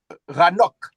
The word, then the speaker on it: Enoch: Par exemple, on écrit Enoch avec un H mais c'est pas Enoch, c'est ça commence par cette lettre là. C'est Ranoc.